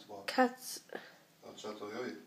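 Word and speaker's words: Çatalhöyük: Catalhoyuk. He pronounces it a cool way. Pronounces it the Turkish way.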